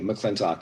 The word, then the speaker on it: McLintock: capital l i n t o c k mclean talk and if you just uh google it's really